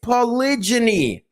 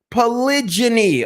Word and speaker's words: polygyny: woman is open too it's polygeny polygyny okay say it with me everybody in the class say it polygyny stop saying polygamy stop saying polygamy you're